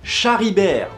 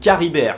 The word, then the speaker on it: Charibert: Les 4 finalistes sont donc Sigebert Ier, Gontran, je l'aime bien, Charibert ou Caribert, c'est tellement de la merde, tu prononces comme tu veux, et Chilpéric Ier, Camembert là, 567, il a pas de fils, ça arrange tout le monde.